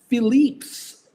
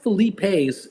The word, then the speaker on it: Philippe's: It's pronounced Philippe's. Wasn't it? It's not Felipe's. It's Philippe's.